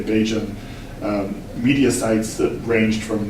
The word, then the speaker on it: Bajan: Homosexuality was being discussed in a variety of Barbadian, or as locals say, Bajan, media sites that ranged from newspapers to the internet and the radio.